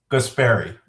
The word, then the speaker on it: Guaspari: It's Guaspari.